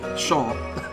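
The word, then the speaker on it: Seam: let's talk about you the name seemed pronounced Shawn pronounced Shawn all right Shawn named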